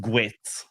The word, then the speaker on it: GWT: Google, Pronounced gwit.